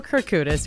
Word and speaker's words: Kourkoutis: the Juno's red carpet everybody gets so freaked out about it it's phonetic system your background is Greek